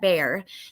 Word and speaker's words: Bexar: But so the Bexar County, apparently you pronounce that Bear.